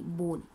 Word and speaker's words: borne: It must be बोन in mind, it's नॉट बोन, BONE नहीं, ब्रोन, BORNE, बोन, बट हम pronounce करेंगे बोन।